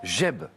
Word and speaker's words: Geb: Geb. Ça s'écrit G-E-B, Geb.